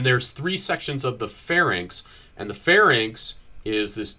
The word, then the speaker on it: pharynx: N doesn't come before the R, so it has to be pharynx.